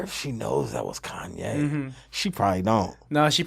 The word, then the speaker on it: Kanye: No, she probably still thinks it's some dude Named Kane. Yeah, She probably think it was Kane. Kane West. It's so funny for someone to mispronounce Kanye West's name, dude. Kane.